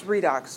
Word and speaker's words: redox: reduction lots of syllables it's often called a redox reaction reduction oxidation always reminds me of red box and makes me want popcorn but it's redox without the beat so many but not